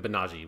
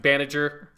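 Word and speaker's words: Banagher: do anything other than banaji which yeah like i it clearly if you look at the spelling it's supposed to be pronounced baniger um but let's just go with like banaji let's just stick with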